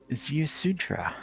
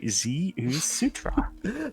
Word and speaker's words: Ziusudra: Ziusudra. Ziusudra. It's not hard to pronounce. You just sound out Ziusudra.